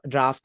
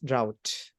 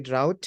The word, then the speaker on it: drought: maybe I'm wrong um so it's not draft anyways it's drought so make sure you pronounce the U when you do this so that makes sense it's going to be drought here drought drought okay